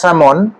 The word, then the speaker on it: salmon: Arctic স্যামন, মানে যেটাকে স্যালমন বলে, অ্যাকচুয়ালি এটা স্যামন, তেলটা সাইলেন্ট থাকে।